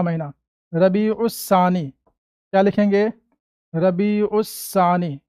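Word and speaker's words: ربیع الثانی: रबी सानी क्या लिखेंगे रबी उसस सानी ठीक है लगा दो त शदीद रबी उ सानी उर्दू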